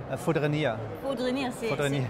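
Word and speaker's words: Fourdrinier: Foudrenier.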